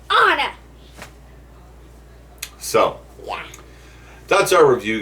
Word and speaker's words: Anna: It's not Anna. It's Anna.